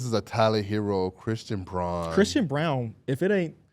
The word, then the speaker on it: Braun: I thought it was Braun. It's Brown. Okay, Christian Brown. Right? Yeah, it is. It throws me off too because 'Cause it's it's- phonetically not spelled It's like that. Braun when you look at it.